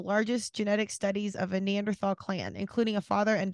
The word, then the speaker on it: Neanderthal: And I actually think it's Neanderthal, not tall. There's two different versions, and this is Thal, just to be clear.